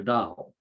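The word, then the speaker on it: dhow: indian ocean with one city it's called a dao d h o w dao that's how it's pronounced and they traveled thousands of miles on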